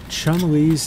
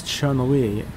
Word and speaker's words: Chun-Li: them we're gonna retreat Chumley's name Chumlee's name is Mandarin for Spring Beauty it is properly romanized as Chun-Li in pinion and pronounced Chun Li despite westerners commonly pronouncing it as Chumley the Japanese on yomi